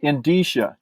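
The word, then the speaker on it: indicia: of of Inda yeah we would call it the indish indish okay I've been saying it wrong for 20 years that's okay uh folks if you're listening it the word is spelled like India with a c and so here's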